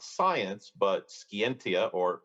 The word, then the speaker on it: scientia: He defined not science, but scientia, or scientia, as some people will pronounce it, as the act of him that knoweth, the act of him that knoweth.